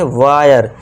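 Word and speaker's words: wire: वायर। और ई को नहीं पढ़ेंगे। वीर्य नहीं करना। वायर पढ़ना है।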